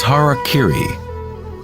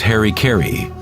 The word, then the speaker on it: harakiri: suicide or sepuku was harakiri was often mispronounced as harry kerry it means to impale